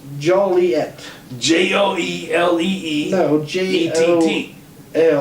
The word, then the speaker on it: Joliet: for a minute guys good eats popcorn alright Joliet town fathers reflect in the pet peeve of hearing their town's name mispronounced Joely Joely at which that is how